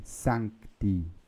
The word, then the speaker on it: Sancti: Esse C, ele é levemente pronunciado, como se fosse um K, né? Sancti, Sancti.